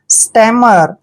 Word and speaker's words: stammer: देखिए एस का उच्चारण हम क्या करते हैं, से। और टी को हमने क्या पढ़ना है, टे। और ए को ए की मात्रा। और डबल एम को हमने मैं पढ़ना है। और ER का उच्चारण हम रे करते हैं, स्टैमर।